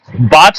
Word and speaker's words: बात: जैसे वात, बात को अगर आप वात बोल रहे हैं तो गलत हो जाएगा।